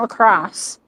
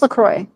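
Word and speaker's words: Lacroix: Is it Lacroy or L? That's not Lacrosse. No, it's Lacroy, right?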